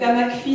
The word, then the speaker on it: AMASCPHI: Et donc nous avons développé une méthode qui s'appelait AMACPHI, qui maintenant s'appelle AMASCPHI, mais souvent on ne prononce pas le S. Donc AMACPHI, c'était Adami et Mazur